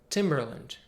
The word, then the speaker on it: Timberland: Cleveland a couple of brand names that end with Lent and use the same reduced vowel schwa Roland Timberland the boots Timberland and Timberland the music producer Timbaland now let's take